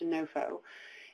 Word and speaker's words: NOFO: called the Notice of Funding Opportunity, or NOFO, pronounced NOFO.